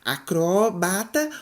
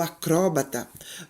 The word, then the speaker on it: acrobata: Hieroglifo ou hieróglifo, Oceânia ou Oceania, acrobata ou acróbata, projétil ou projetil, eletrodo ou elétrodo.